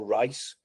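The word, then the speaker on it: Rhys: Reese they call Rice.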